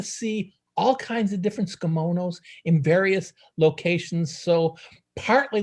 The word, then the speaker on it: tsukemono: off with saying that skimonos is one of the best kept japanese secrets when you say skimono it's tempting to say that t but literally it's a silent t it really means steeped